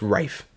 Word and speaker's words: Ralph: this look it up look it up a Rafe Rafe it is yeah okay it's not Ray but it's Rafe but it kind of Blends in with the